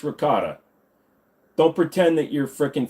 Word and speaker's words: ricotta: make me a Gaba with some rot no it's ricotta don't pretend that you're